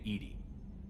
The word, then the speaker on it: EDI: airlock is a jar why are you named Edie Ed is the phonetic pronounciation of e di that is an acronym